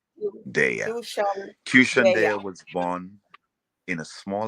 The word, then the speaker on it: Qshan Deya: Let me give you the proper pronunciation, like the word nation. QSHAN Deya. QSHAN Deya was born in a small little island south of St.